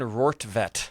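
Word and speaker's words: Rortvedt: And Benny Biceps himself, old Ben Rovit, Rorvett, how do you say it? Ben Rovet. Ben Rorvette.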